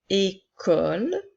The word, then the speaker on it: école: U et la lettre E nous ne la prononcerons pas encore une fois puisqu'elle est à la fin du mot donc une école comme dans la phrase